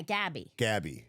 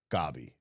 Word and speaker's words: Gabi: We forgot about then successful businessman Hector Cruz meets with Gabi, who is oh yeah, Gabby. Gabi. Gabi's the Spanish pronunciation.